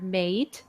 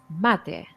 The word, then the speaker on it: mate: Okay, so you have to remember that this one is pronounced as latte. Okay, don't confuse it for mate. It's mate.